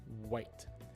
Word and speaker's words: white: teeth or exam or another example the word white white again with the strong w sound in english it's starting just behind the teeth but in japanese we say huitto hoyto is the first character